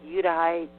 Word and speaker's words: Judahite: I'm a Udahite. What you'd think is a Judahite. There was actually no J in the Hebrew language, folks. It was all pronounced with Y's.